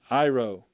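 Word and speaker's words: αίρω: ng sound next word iro iro notice the emphasis upon the first syllable i take up i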